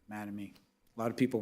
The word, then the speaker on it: Mattamy: Just a comment or two about Mattamy Homes, in case anybody isn't familiar. I always get a question about the name. It's our founders' two kids' names, Matt and Amy, put together, Mattamy.